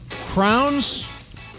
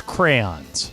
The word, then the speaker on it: crayons: how do you say crowns yeah is that no the court the proper pronunciation is crayons crayons but I just jam it together and say crowns uh Bergman do you say it crayons I say crayons yeah